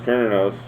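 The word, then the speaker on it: Cernunnos: sexual powers are increased kroner knows pronounced kernos also known as herni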